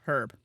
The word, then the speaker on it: herb: So, I always found it interesting when people would pronounce the H.